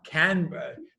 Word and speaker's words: Canberra: I can't pronounce the Canberra. Canberra.